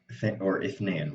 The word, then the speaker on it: اثنين: اثنين is two, or اثنين really. Okay, sorry. So the appropriate technical pronunciation is اثنين with the th, right?